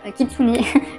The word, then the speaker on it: kitsune: Ouais, voilà, Kitsune. J'avais à peu près raison. Sur la prononciation, le U on l'entend, enfin le OU on l'entend un peu quand même.